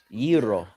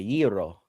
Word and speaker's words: gyro: Yee-ro. Say it the right way. Yee-ro. Roll it a little bit. Yee-ro. Yee-ro. There you go. You sound like a Greek now. Yee-ro. Yee-ro.